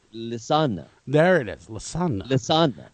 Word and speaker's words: Lisanne: How do you pronounce that? Oh, I was just saying Lisanne. Lisanne, there we go.